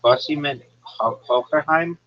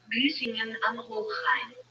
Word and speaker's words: Büsingen am Hochrhein: Are you saying Bussingen Hockerheim? Here's how it's pronounced. Büsingen am Hochrhein.